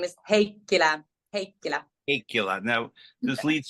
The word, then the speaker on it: Heikkilä: say your last name my last name is heila hea hea now this leads to my first